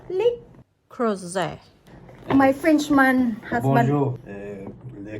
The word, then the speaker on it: Le Creuset: Le Creuset.